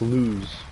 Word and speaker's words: Luz: No, Luz. L-U-Z. Luz. Lube. Yeah, it's pronounced lose.